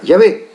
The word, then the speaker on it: Yahvé: Tetra significa 4, gramatón, las grafías o letras, que significa y se pronuncia Yahvé.